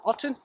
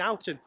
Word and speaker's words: Oulton: Oulton? Oulton or Oulton? Oulton Hall? Oulton, you keep saying Oulton.